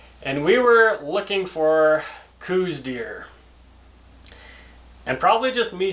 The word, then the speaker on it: Coues: We all know that Coues deer are named after Elliot Coues, who was a physician for the Army, and so we should be pronouncing them Coues deer.